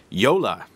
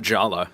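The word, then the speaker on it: Jolla: to say it right, Yola is how you pronounce it. Not Jala, as I think I said a few times in other podcasts.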